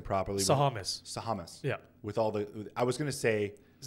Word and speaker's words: Sahamis: Sahamis. Sahamis. Yeah. With all the, I was going to say. It's not Sahamalopoulos. It's Sahamis. Yeah.